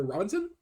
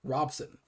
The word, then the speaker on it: Robson: the Queen Elizabeth, who I believe was Flora Robinson? Or excuse me, Robson.